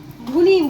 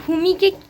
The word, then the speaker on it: ভূমি: না শুধু লিখে ভুনি ভুনি দিদি ভুনি দিদি আমার নামের তো বারোটা বাজি দিয়েছে মানে আমার নাম উচ্চারণ করতে পারে না ভূমিকে ভূমি মানে বলতে গেলে ভুনি দিদি আমার লাস্ট পর্যন্ত নামটা